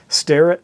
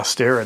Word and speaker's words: Starrett: but anyway there's my Starrett tool haul or yeah stare at I guess is how it's supposed to be pronounced um but this is